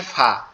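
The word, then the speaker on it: ف: ফা এর উচ্চারণটা একবারে সিম্পল, একবারে সহজ। সেটা হচ্ছে আমাদের এই যে আমাদের উপরের যে দুই দাঁত এই নিচের ঠোঁটের পেটের সঙ্গে লাগবে, অর্থাৎ আলিফটা আমরা যেভাবে উচ্চারণ করছিলাম জি ওই জি।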